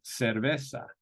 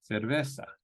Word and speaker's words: cerveza: one repeat Zeta Sona so the Z has two sounds if it's in Latin America it's going to be a C Sound um as in sauna or cerveza okay you're having a beer cerveza in Spain the Z is more of a th sound as in cerveza okay so that's our